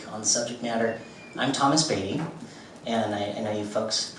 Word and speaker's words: Beatie: uk to speak on subject matter i'm thomas beatty and i know you folks pronounce my name differently out here it's actually